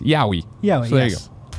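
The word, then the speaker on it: yaoi: And then Kebab says, Yao, what I was butchered is pronounced Yowie.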